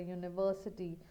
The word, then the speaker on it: university: Therefore, we have a boy, a goat, a university. See, university is sounding like YU, university.